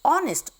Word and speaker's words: honest: H is a consonant sound. Letter is H. But when we pronounce the word, it is honest, O sound.